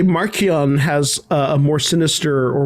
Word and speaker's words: Marchion: 30-minute rabbit hole and finally found charles soul himself says it's marchionne oh they must pronounce